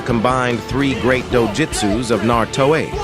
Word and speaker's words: Naruto: three great dojutsus of Naruto. It's Naruto. It's Naruto, not Naruto or Naruto. It's just Naruto. The original anime tells you how it's pronounced.